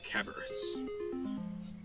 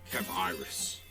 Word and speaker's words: Cabrius: From the look of things, you must be Sir Cabrius. Indeed. And I must correct you, as the proper pronunciation is Cabrius.